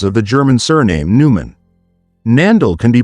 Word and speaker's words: Neanderthal: has no basis in the original German word which is pronounced always with a t regardless of the historical spelling nandal one the type